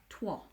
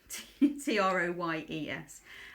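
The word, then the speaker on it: Troyes: and find it so the correct pronunciation apparently is twah but it's written Troys t r o y s I read it yeah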